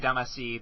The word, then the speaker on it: Damacy: Except Katamari Damacy, they at least answered questions.